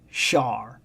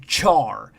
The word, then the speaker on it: Char: everybody's talking about here his first name is pronounced Sha Sha that's fine but yeah that's what I'm talking about it I've seen a lot of videos recently A lot of them that call him Char and my only guess